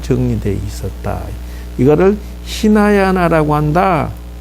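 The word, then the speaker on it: हीनयान: 이거를 히나야나라고 한다. 요 발음을 반드시 기억해 놓으셔야 돼요.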